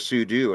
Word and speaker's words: sudo: got you I also say I also say pseudo instead of sudo and I know it's super user do it's like technically Sudo is more correct but I don't know I just say pseudo same it's pseudo um now I literally have